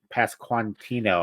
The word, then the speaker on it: Pasquantino: a young Anthony Rizzo and Vinnie uh P pasquantino I think is how you say his name